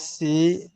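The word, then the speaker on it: se: একটু খেয়াল করে পড়বেন এটা হবে সে এটা সি না ইংরেজি উচ্চারণ করবেন না সে মু তাদরে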